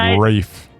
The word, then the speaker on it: Ralph: I've got an uncle. He spells his name the same way. His name's Ralph. My father-in-law's named Ralph, and it's spelled the same, too.